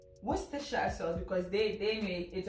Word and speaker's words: Worcestershire: If you break it down, it looks like it's Worcestershire. Yeah. But apparently, the UK people said it's Worcestershire sauce because they made it originates from them, right?